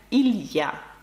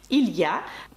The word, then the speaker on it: il y a: дуже важливий зворот який звучить як Ілля пишеться він ось так Ілля ми вимовляємо його цілісно Ілля одразу хочу сказати для